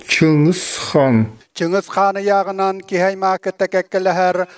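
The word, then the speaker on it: Чыҥыс Хаан: Le nom de Gengis Khan se prononce en yakoute comme Chingis Khan.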